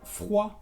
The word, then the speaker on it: froid: Por ejemplo, después de una vocal, le pie, que es el pie, o también froid, que es frío.